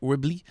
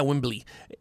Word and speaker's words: Wembley: in london i hope i said it right whibley stadium uh yeah wembley it was all dude the concert was all